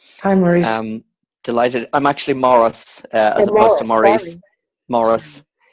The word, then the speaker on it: Maurice: Laurie Laurie has a question for us Oh Maurice where are you there you are I Laurie hi Mark Henry I'm delighted I'm actually Morris at well I'm already Morris Americans dentists pronounced